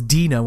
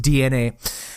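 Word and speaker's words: DeNA: up with a mobile game developer called uh DNA I actually thought it was D now when I first saw it but it's apparently pronounced DNA and Nintendo are venturing into the smartphone and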